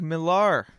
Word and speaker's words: Millar: All right, Millar, and I'm pronouncing that correctly.